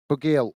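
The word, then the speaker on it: Bugiel: Bugil, that's how you pronounce it.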